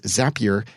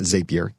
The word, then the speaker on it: Zapier: a single trigger whereas zapier and it is pronounced that way because you make zaps with zapier so it's not zapier zapier and that is